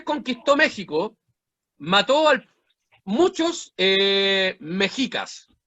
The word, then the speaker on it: mexica: Mexica. Con X. Ellos pronuncian la X como che veces. Depende del contexto, pero eso no importa.